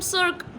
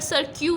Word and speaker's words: cirque: इसको हम सर्क पढ़ते हैं. समवेयर सर्क्यू भी इसका प्रोनाउंसिएशन है, बट it's better it's सर्क.